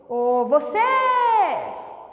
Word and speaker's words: você: proparoxítona chame a palavra quando eu falo por exemplo você eu prolongo a sílaba sei então eu sei que ela é tônica isso ajuda bastante na